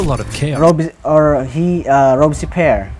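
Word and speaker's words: Robespierre: led to a lot of care or he robesy pair right Rosie Pierre that's how you pronounce it yeah needed stability so he rolled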